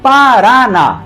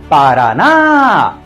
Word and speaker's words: Paraná: e o em ens Paraná tem três sílabas e a mais forte é a última Paraná como a última sílaba